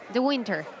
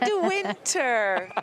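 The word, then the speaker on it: De Winter: thing the winter win we say do winter don't mind him don't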